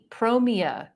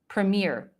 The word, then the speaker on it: Premiere: with the look okay pre is it prom promia premu Premiere it's Premiere okay sorry I was reading